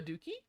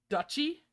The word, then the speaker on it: duchy: all went a what and i said a dookie you know where a duke rules and they all looked at me and went you mean duchy oh is that how you pronounce it so needs to say